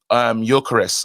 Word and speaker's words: Gyökeres: Gyökeres. Oh, you don't pronounce the G. It's silent.